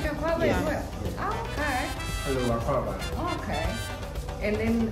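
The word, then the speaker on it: Akwaaba: Akwaba. Am I saying it right? Yeah, that's right.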